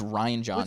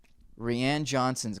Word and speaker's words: Rian Johnson: His name's Rian Johnson. It's spelled with an I, so I thought it's still fucking Ryan, bitch. Okay, I thought.